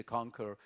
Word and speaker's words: conquer: Il n'y a aucune raison pour que conquest, dérivé de conquer, se prononce quoi, et que le que qui s'écrit QU aussi, de to conquer, conquérir, se prononce pas quoi.